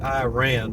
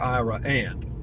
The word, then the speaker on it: Iraan: They pronounce it Iran, but it's spelled Iraan, and it's pronounced there Iran for some reason.